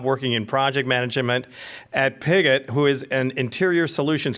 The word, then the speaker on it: Piguet: When Olivia is not at NAMI, she has her full-time job working in project management at Piguet, who is an interior solutions company. I pronounced it right.